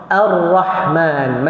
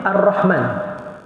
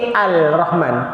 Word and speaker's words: Ar-Rahman: alah dia bunyi alham kalau Idam Syamsiah dia masuk terus kepada huruf sebelah dia lam tu dibuang Arrahman macam Attaqwa kita tak baca altaqwa sebab tu kalau dalam